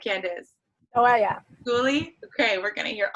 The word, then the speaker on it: Skoolie: Am I pronouncing that right, Candice? Oh, yeah. Skoolie?